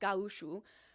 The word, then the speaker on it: gaúcho: ranchers and costumes, but she's a gaúcho, which is Brazilian, gaucho basically, but pronounced gaúcho, and she has a bullwhip.